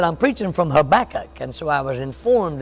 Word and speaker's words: Habakkuk: I said, I'm preaching from Habakkuk, and so I was informed that it's Habakkuk.